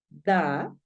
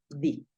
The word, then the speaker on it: the: así, lo puedes pronunciar da, de hecho, yo tiendo a pronunciarlo más da, y en algunos casos obligatorios lo vas a pronunciar di.